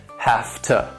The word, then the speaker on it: have to: Now, these reductions also sound like they may be one word with two syllables. And again, the stress is on the first syllable, and the second syllable is once again reduced with that schwa sound, that sound. Has to, have to. In these reductions, you do hear that T sound, that t at the end.